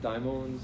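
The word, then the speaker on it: δαίμων: So you pronounce it daimons? Daimon, yeah.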